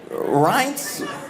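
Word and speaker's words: Reince: Ren Rance Priebus.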